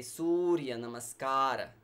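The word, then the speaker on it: Sūrya Namaskāra: with Surya Namaskar and we say Surya Namaskar so the oh is long and in namaskara the syllable car is also long so you can repeat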